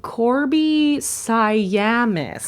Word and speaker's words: Korby Siamis: uh someone who wrote it again oh uh Corby saamis yes that's how you say her name oh Corby sayam that's it oh yeah we know her and